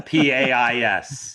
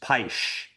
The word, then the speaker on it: Pais: Yeah, Pais. Yep, yep. It's one of the most mispronounced names. Yeah, and I was just in Portugal not too long ago, and they said, "No, your name is pronounced Paish."